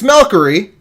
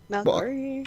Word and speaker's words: Malkery: It's Malkery. We're going to call her Malk tonight because I like one-syllable words. Malkery. Well, it's like Valkyrie.